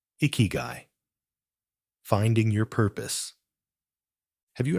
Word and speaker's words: ikigai: where the Japanese concept of iigi comes in iigi pronounced iigi translates to reason for being or Reason